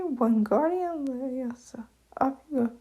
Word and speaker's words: Leviosa: Besides, you're saying it wrong. It's Leviosa, not Leviosa, Hermione corrected Ron.